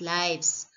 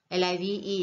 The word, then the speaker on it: live: Live as lives. L-I-V-E is live. As an adjective, live. As a verb, live.